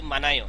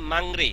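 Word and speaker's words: 망리: মাংরি, তাই না? কিন্তু না, উচ্চারণ হবে কি? মাংনি। উচ্চারণ কি হবে? মাংনি। মাংনি। কেন মাংনি হবে? এই যে ইয়ং এর পরে রিউল আসে, এজন্য রিউলের উচ্চারণটা ন হবে।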